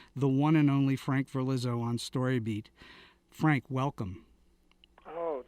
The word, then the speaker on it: Verlizzo: that many people mostly my teachers could not pronounce my last name which is verlizzo i think they would see it in print